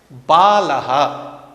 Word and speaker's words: बालः: बालः, यहाँ बाल या बाल, यह संस्कृत में उच्चारण नहीं होगा। हम जानते हैं यह विसर्ग है, इसका संस्कृत में उच्चारण बालः, विसर्ग का बालः, इस प्रकार उच्चारण करेंगे।